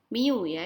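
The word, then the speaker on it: μ: a dengan notasi matematika mioya ini namanya Miu cara bacanya Mio Hai Minggu itu merupakan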